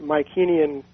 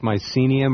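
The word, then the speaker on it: Mycenaean: my kenyan is that is that also pronounced mycenium or mispronounced mycenium is that the right m-y-c-e yeah okay i just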